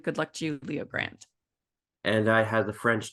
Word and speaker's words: Grande: For some strange reason, I thought it was Good Luck Leo Grande because of how it's spelled, but it's Leo Grande.